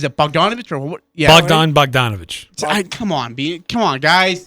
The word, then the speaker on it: Bogdanovich: you say is it bonovich or yeah bdon bogdanovich come on come on guys bonovich I'm going